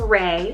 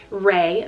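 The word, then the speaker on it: Rey: Another nature name here, we have Ray, spelled R-E-Y, Ray. Very minimal.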